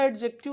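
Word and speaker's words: adjective: पढ़ा है अरे भैया एडजेक्टिव नहीं होता ये ये जो आपका डी है ना यह जो आपका डी है ना यह हमेशा साइलेंट होता है बोलने में क्या होता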